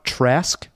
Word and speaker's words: Trask: No, Bolivar Trask. Oh, He's you're like the- right. He is Toad. Trask. He's Toad or something. No, Trask. no, he's Trask.